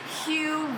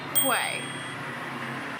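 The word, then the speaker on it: Huế: automatically started pronouncing it q Vietnam which we learn is not the route it is pronounced way we think there's a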